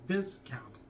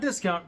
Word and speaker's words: Viscount: I think it says Voltage Viscount. Not discount, Viscount. It's got a V in there.